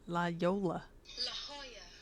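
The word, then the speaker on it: La Jolla: ] up what is that Lola Yol Lola La Hoya California yeah la Hoya La Hoya I like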